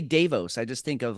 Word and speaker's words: Davos: with the wef in Davos which I know it's pronounced davo but nobody's calling it davo anymore so Sweden needs to change it it's Davos Just go with it